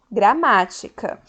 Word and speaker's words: gramática: gramática da seguinte forma a gramática a sílaba mar é a sílaba tônica ou seja a sílaba mais forte que eu pronuncio com som mais forte ela ocupa a posição de antepenúltima então as palavras que